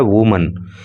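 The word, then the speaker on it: woman: बता चुके हैं कि जब एकवचन के रूप में इसको प्रयोग किया जाता है तो स्पेलिंग होती है डब्लू ओ एम ए एन और इसका उच्चारण होता है वुमन लेकिन जब बहुवचन इसको बनाया जाता है तो स्पेलिंग हो जाती है डब्लू ओ एम ई एन और इसका उच्चारण हो जाता है वमन तो मेनी वमन अनेक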